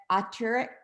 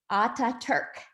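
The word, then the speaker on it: Atatürk: the early childhood education program he worked at auteur no let me say it again i i want to make sure i pronounce this correctly ata turk how was that dr kaskin uh university in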